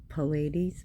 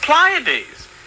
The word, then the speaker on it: Pleiades: Well, it says, or can you I would pronounce it Pallades, but wow. lose the sweet influences of Pleiades?